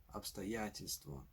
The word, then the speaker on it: обстоятельство: If you encounter the syllable tel in a word, then the previous syllable is likely to be stressed. This way you can correctly guess that the word обстоятельство is pronounced обстоятельство.